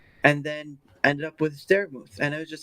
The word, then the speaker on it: Darachat: Now, obviously, the E is silent, but it still carries that mooth sound from vermouth, right? Yeah. So, and I just thought, it looks like mouth, but it's not like that.